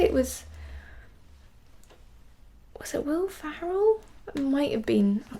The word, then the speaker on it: Ferrell: Ferrell. Mm-hmm. Is that his name? I think so. Not Farrell. I'm pretty sure it's spelled with an E. It's just pronunciation, but you know.